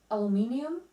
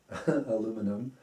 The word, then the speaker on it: aluminium: syrup syrup pajamas pajamas c c naturally naturally aluminium aluminum although why do you pronounce aluminum there is the British the British